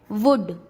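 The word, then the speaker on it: would: डी से पहले एल वुड, डी से पहले एल शुड।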